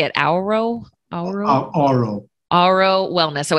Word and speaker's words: Auro: Auro.